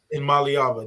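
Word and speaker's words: Iamaleava: love me some ni but um I can't pronounce his last name so IM malava IM malava there we go see all I need is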